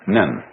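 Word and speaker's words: 忍: very interesting sign this it pronounced none in Japanese nin and the top part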